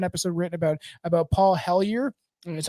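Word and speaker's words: Hellyer: do have an episode written about about Paul helier that's how you pronounce his name he was the defense minister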